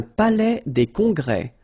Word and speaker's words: palais des congrès: Un palais des congrès. Final S here and here are not pronounced.